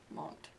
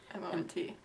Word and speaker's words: M.O.N.T: According to the Hangul, you say MONT. According to the dots between the letters, you would say M-O-N-T. So what is it, people? It's MONT. That's in the Hangul.